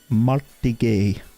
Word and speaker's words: Martigues: And then we've got another one that Andrew told me how to pronounce, which is FC Martigues. Martigues.